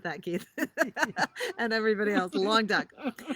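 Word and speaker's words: Languedoc: for the wine for the price and it's pronounced lang doc i pronounce it wrong it's pronounced long duck okay have fun with that keith and everybody else long duck it's a new appellation from 2007 and um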